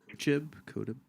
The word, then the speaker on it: Kotb: Kotb.